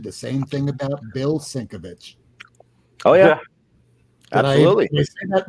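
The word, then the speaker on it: Sienkiewicz: same thing about Bill sinkovich oh yeah absolutely isn't that right I always defer to Lady fantastic to the proper pronunciation uh cinquevich yeah that's it it's to the point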